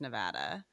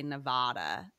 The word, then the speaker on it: Nevada: Like people on the West Coast know it's Nevada. People on the East Coast say Nevada, and like I cringe.